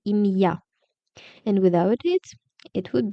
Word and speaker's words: ім'я: And be careful with the pronunciation because we consider an apostrophe. With it, we really say Ім'я, and without it, it would be Ім'я.